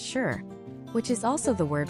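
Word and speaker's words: 四: The number four is pronounced shi, which is also the word for death.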